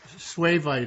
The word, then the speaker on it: suevite: I don't even know how you pronounce it, Doug. Suevite, I think.